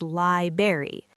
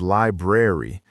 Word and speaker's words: library: This one is very commonly mispronounced as library. But the correct version is library. You've got to keep that R sound alive.